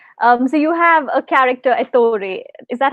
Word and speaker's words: Ettore: So you have a character, Ettore. Is that how you pronounce it?